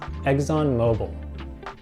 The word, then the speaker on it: ExxonMobil: We pronounce this ExxonMobil.